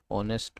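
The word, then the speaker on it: honest: देखो पहला example orange our ऑनेस्ट एमएलए ऑनेस्ट में साउंड ओ का प्रोनाउंसिएशन है यहां पे।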